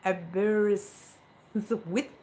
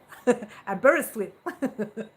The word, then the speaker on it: Aberystwyth: Took me a year to learn how to pronounce it. Okay, let's see if I can work it out. Aberystwyth. Aberystwyth.